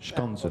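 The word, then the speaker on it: Skanzen: I believe I've tried to be very very good with my Hungarian pronunciation, so I believe it's museum. Schonzen.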